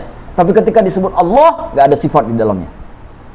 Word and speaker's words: Allah: Padahal kan itu alif, lam, ha. Harusnya bacanya Allah dong. Allah. Kan begitu harusnya bacanya. Enggak, kita baca apa? Allah. Satu-satunya kata di dalam bahasa Arab antara tulisan dengan bacaan berbeda, itulah kata Allah.